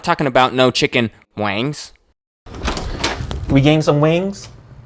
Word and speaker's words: Nguyen: about when we're not talking about no chicken wings we gained some wings it's Wayne spelled out